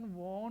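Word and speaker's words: won: इसका pronunciation वॉन नहीं है। इसका प्रोनंसिएशन है वन।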